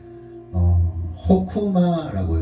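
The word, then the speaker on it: חכמה: 이 지혜는 이 핵심적인 단어이기도 하면서 호쿠마라고 읽어요. 호쿠마.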